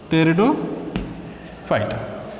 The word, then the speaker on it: Pteridophyta: Here P is silent here. Pteridophyta.